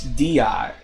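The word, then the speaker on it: Dehya: to Party come on oh part is di di that's how you pronunciate it okay di right part is di d h y a i di okay maybe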